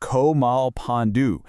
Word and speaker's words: Komalpanu: It's pronounced Komalpanu.